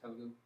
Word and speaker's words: Telugu: Yeah, and a regional language, Telugu.